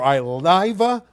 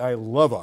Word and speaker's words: Ileva: Also, congratulations in order for Iliva Brigington from Oaks Christian. She had 3 homers the other day in a big win. It's actually Ileva. I think that's how she pronounces it.